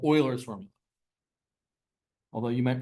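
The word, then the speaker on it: Euler: I used to pronounce it incorrectly for a long time and then someone's like it's Oiler I'm like really like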